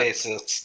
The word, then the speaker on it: Apophasis: How do you pronounce that? Apophasis.